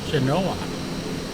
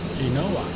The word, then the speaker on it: Genoa: Today we are in Genoa or Genova or Genoa, however you want to pronounce that, in Italy, and we are in the P180 Piaggio Avanti.